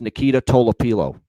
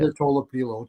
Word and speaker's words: Nikita Tolopilo: So, those aren't really all that horrible, but to the pronunciation guide. It's Nikita Tolopilo. That's how you say it. Nikita Tolopilo. Tolopilo.